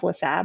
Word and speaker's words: Lassabe: Lassabe, what's going on? Hey, thank you for having me. Thank you for pronouncing my middle name correctly.